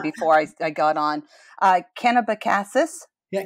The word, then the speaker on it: Kennebecasis: John, New Brunswick, and raised in Jerrod, I meant to ask my husband how to pronounce this correctly before I got on. Kennebecasis. Yeah, Kennebecasis, yep.